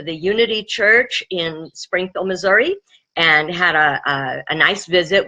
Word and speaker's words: Missouri: But what do you expect from places that call Missouri, Missouri? You know, I mean, it kind of goes to, makes sense.